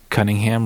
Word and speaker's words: Cunningham: So they came together and recorded the whole album, and because Cunningham rhymes with Buckingham, they decided to call it Cunningham Bird, and that's the album name.